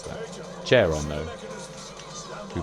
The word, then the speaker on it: Charon: Chairon. Chairon? Chayan. Chayan could be a way to pronounce that. Charon, though.